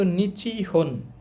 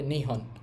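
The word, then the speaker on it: 日本: তো টোটালটা একচুয়ালি হওয়ার কথা ছিল নিচিহন। বাট এটাকে বলার সুবিধার্থে শর্ট করে নিচিহন না বলে নিহন।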